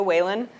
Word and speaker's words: Whelan: all of you that they mispronounced my name in the um uh recording it's actually Julia whan so um and I